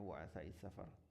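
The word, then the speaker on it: وعثاء السفر: Ini bacanya waasa safar.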